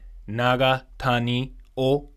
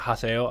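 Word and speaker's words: Haseo: because you write it with I would have pronounced his name Naga Tani o but apparently you pronounce it Haso I don't know why but he was the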